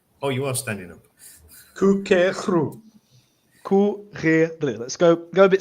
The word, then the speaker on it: courir: The only problem I have is that last syllable there. You're kind of pronouncing it like a ru. It's just r.